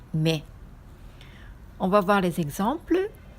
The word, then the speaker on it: 女: Alors, en onyomi, on lit jo, nyo ou nyo. En kunyomi, on lit onna ou me.